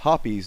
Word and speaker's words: Hoppe's: It's called HOPPE'S number 9, although a lot of people call it HOPPE'S number 9.